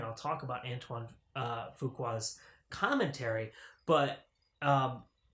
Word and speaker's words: Fuqua: that anton fuqua says fuqua i've been pronouncing his name antoine fukua i don't know why i guess because it looks french with the q in it and it's fuqua so anton fuqua says